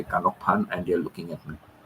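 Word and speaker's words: ขนมปัง: Kanokpan for bread, and sometimes in the supermarket, I would say kanokpan, and they're looking at me. Kanokpan, kanokpan. So it's got a little tones and all.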